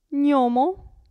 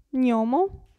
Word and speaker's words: gnomo: Abbiamo poi il gruppo GN, si pronuncia ni, gnomo, gnomo e magnete, magnete.